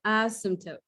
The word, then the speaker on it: asymptote: learn is the asymptote the p is silent so the asymptote know what it is